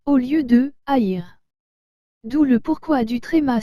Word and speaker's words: haïr: fait le a et le et ensemble se prononce et donc nous dirions air au lieu de deux haïr d'où le pourquoi du tréma sur le riz